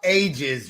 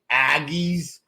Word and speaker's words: AEGES: well to be fair i did say it is pronounced ages right i didn't say that i didn't yeah i did i guess people probably say aggies yes ages so stupid